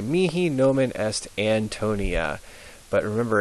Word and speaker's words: nomen: And then the second word, nomen, the E is in bed, nomen, est, and then this is where people always get thrown off. They want to say mihi nomen est Antonia, but remember